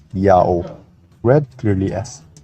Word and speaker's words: IAHO: Now the Latin letter H at the time of Jerome is an H sound if it's the first letter of a word, but if it's not, it's a silent letter. And Latin adopted that rule from ancient Hebrew, so IAHO is read clearly as Yao.